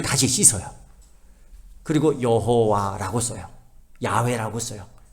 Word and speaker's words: 야훼: 근데 여호와가 정확히 여호와가 아니에요. 야훼라고 해요.